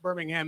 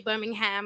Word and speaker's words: Birmingham: and I have to say the ham to make the rhyming work in this. So after saying I don't say Birmingham, I'm going to say Birmingham like every bar now.